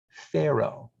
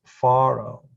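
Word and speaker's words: פרעה: ulla line number seven faro is the hebrew pronunciation of what we in english say pharaoh moses and pharaoh the hebrew form is faro and somehow pharaoh became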